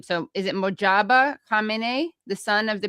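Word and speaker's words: Mojtaba: So is it Mojaba Kame, the son of the previous Ayatollah? Mo, it's Mojaba.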